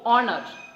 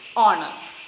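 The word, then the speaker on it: honour: So we pronounce it as O, honor. So we have to use an before honor. Honor, honest, our. In all these words, H, the letter H is silent.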